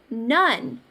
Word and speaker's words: none: I hear un. It sounds like a short U sound, but I don't see a short U in the spelling of that word.